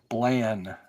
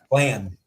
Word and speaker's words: Blann: Blann. Blann.